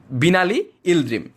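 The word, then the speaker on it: Binali Yıldırım: এটির আরব যে উচ্চারণটি তা আরও বেশি জটিল এবং আরও বেশি কঠিন। ইংরেজির কাছাকাছি উচ্চারণ হচ্ছে বিনালি ইলদ্রিম।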